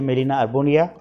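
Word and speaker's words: Gmelina arborea: शिवनमुड़ है ये मेलिना अर्बोरिया, इसका जी साइलेंट है इसलिए मेलिना अर्बोरिया।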